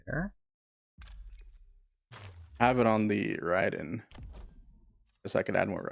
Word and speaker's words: Raiden: So, FMG Nick, there is Raiden and Ryden, right? Ryden is how it is pronounced in Japanese.